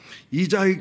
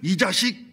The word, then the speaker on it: 이자익: 이자익 장로라는 출석부를 불러야 되는데 선교사님들이 발음이 서툴잖아요. 그래서 이제는 하고 축도할 때가 잘못하면 요새는 하는 것처럼 이자익을 이자식 이렇게 부르기도 하고 굉장히 실수가 많았다고 그래요. 그러면서 공부를 잘하고 1915년 이자익 목사가 금산교회 2대 목사를 부임하고요.